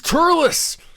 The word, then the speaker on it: Turles: goku black and uh turlos or telus however you say his name just tell us tell us and uh like someone's typing in the chat right now it's turles and it's king kai